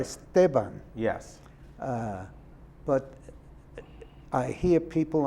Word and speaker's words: Esteban: In Spanish, if there's no accent, it's the next to last syllable that is emphasized. Right. Esteban. Yes. But I hear people on television in the sports programs saying Esteban.